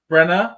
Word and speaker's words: Brena: s pass I have Bren uh Bren Brena is that how I pronounce it yes sir good double checking on that